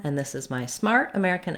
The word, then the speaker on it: America: at the word america this word has second syllable stress so the mare syllable is stressed it should be long and have a clear vowel and the other syllables are unstressed and they have reduced vowels the letters er say the air diphthong in this word that's probably the main